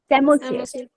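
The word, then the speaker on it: psammosere: सेमोसियर। सेमोसियर। देखो, P silent है, Sands को एस से याद रख लेना, ठीक है?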